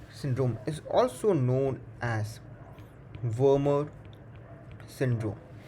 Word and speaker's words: Wermer: MEN 1 syndrome is also known as Wermer syndrome. Please pay a specific emphasis on the letter M, as there is another syndrome which is called a Werner syndrome, spelled with WERNER syndrome, which is a syndrome involving rapid aging.